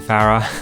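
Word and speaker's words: Pharah: hurts me and by the way you do pronounce it Farah I'm going to trigger lots of people's faces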